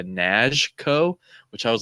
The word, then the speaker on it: Knazko: get the correct pronunciation I heard him say like with his accent like almost like a nashco which I was like